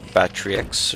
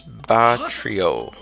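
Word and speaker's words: Batreaux: It's not Batrix or Batrix. It's Batrio. Batro. Something like that.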